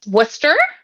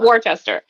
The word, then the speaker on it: Worcester: opposed to Worchester yes it is not warchester it is Worcester even though that is